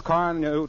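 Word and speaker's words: Carnu: initials get some Johnson's car new tomorrow sure car new is spelled c a r Nu now I'll repeat the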